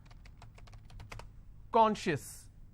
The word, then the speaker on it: conscious: Conscious. How many syllables do I have? 2. And I will stress on con.